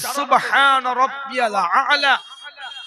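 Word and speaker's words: سبحان ربي الأعلى: না সুবহানাল্লাহ কোথায় এলো এখানে উচ্চারণ হবে সুবহানা রাব্বিয়াল আলা সুবহানা রাব্বিয়াল আলা সুবহানা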